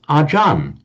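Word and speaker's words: Ajahn: But under the phonetics of Thai, a word that ends in a R is pronounced with a N. So Archaria in Thai they pronounce as Ajan that you all know the word Ajan. It's in fact just the Thai the Thai way of pronouncing Acharia.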